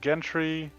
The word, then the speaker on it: Gentry: I shared Gentry. that with hard G, soft G. Let's see, Gentry. That's more of a hard G, Gentry.